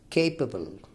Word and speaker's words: capable: four-syllable word second capable capable the stress here falls on the first syllable K and it is